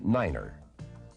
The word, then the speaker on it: niner: 9 is the only number pronounced differently. It is said as niner.